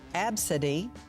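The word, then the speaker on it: Abcde: travesty so here we go naming your kid absidy a b c d fee a b c d e that's how it's spelled wow pineapple on pizza is that a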